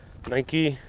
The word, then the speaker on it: Nike: Nike, if you're pronouncing it like the American company.